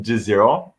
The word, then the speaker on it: Desira: pronouncing your last name so it's jazzier um it's maltese most people assume it's italian got it maltese awesome